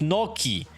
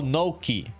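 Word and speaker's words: gnocchi: Yankee says it's pronounced Noki. Oh, Noki.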